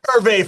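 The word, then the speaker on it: Hervé: The H is silent, folks.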